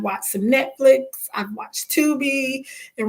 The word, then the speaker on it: Tubi: So I love Tubi as well. And it's pronounced Tubi, and it's not a paid partnership or anything.